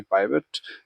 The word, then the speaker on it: pivot: उसके बाद इंसर्ट में जाएंगे, इंसर्ट के बाद जाएंगे पाइवट पे। पाइवट बोलो या पिवट बोलो, आपकी मर्जी है, क्योंकि सब अलग अलग तरीके से ऐसे प्रोनाउंस करते हैं, तो आपकी मर्जी है, ठीक है।